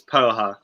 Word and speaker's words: poha: of joy so can we just check the pronunciation it is poha isn't it yes it's absolutely correct amazing it's